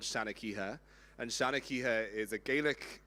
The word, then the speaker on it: Seanchoiche: A lot of you guys probably saw Shanakiha on the running order and you didn't really know how to pronounce it. You might have pronounced it. You knew. You might have thought it was called Sha's Choice. You might have thought it was called Sheniqua. You might have thought my